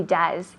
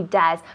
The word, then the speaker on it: does: Yes, he does. Con la U. Yes, he does, decimos. Yes, he does. Does? Does? No, porque es una O y E, pero se pronuncia como una U en inglés.